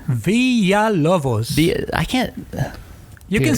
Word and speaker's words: Villalobos: villa how do you say your last name villa lovos i can't you can say villa villa villa